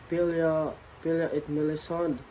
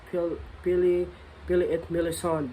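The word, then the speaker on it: Pelléas et Mélisande: I don't know if I'm correct in pronouncing it, but it is French. It's kind of hard though. Yeah, it is French, but I am trying my best to pronounce it like Pili et Melisande.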